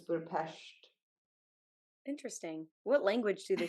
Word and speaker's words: Budapest: you don't say Budapest because they're not a pest. Apparently, they have 44 letters in their alphabet or something, Oh, and the S-E makes a sh, so it's Budapest.